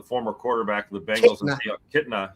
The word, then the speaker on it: Kitna: John Nitna, the former quarterback of the Bengals, Kitna. Yeah. I have to pronounce the N for some reason, but he's now the quarterback there, which has drastically changed that offense.